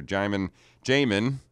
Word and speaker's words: Jaimin: Miss Jaimin, right? Yes. Am I pronouncing that correctly?